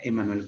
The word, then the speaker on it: Immanuel: Kantiano, porque plantea el gran Immanuel Kant, o se dice Emmanuel Kant, ¿no? Se escribe Immanuel Kant, pero le pronuncia Emmanuel Kant.